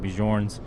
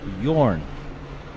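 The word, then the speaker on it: Björn: t23 223.5 Bjorn uh looks like I've been pronouncing bijorn's name all uh wrong all weekend so it's a good correction from YouTube keep them coming guys Bjorn Yorn Bjorn so we're still trying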